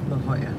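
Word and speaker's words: La Jolla: it's a going off LOL and six it's pronounced La Hoya M Hoya it's right here thanks no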